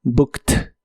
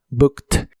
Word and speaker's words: booked: Es similar a la forma del presente, pero como es un verbo regular, en este caso termina con ed, y esa ed se pronuncia como t, booked, booked.